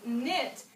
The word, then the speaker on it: knit: So words like knee and knot and knit, the K is actually silent.